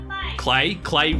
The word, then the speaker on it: Klei: So this is a deck builder by Klei. Klei do amazing games. Don't Starve, Oxygen not included. Klei rhymes with play.